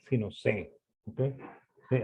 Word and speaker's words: Say: Así es como se pronuncia, no Say, sino C. ¿Ok? Sí, así se dice en francés.